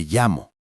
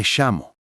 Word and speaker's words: llamo: En español, la doble L se pronuncia como una Y suave en muchos países. Me llamo. Pero en otros lugares, como Argentina o Uruguay, suena como SH. Me llamo.